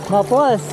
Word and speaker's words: Maples: sa intro At least mapless river pa rin to ' ba? Mapless. Mapless. Maplas. Gan yung pronunciation ng mga lokal eh. Maplas.